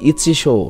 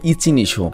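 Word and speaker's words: 一之瀬: ওর নাম কি রে ভাই? ইচিশো নাকি, আমি উচ্চারণ করতে পারছি না, দাঁড়াও আমি চেক করে আসি। ওর নাম হবে ইচিনিশো। জাপানিজ ভাষায় ওর নাম হচ্ছে ইচিনিশো।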